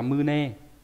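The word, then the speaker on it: 胸: Đọc là mư nê.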